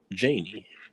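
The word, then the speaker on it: Janie: them in every shape they had so it's pronounced janey thanks for asking j-a-n-i-e i'll try to remember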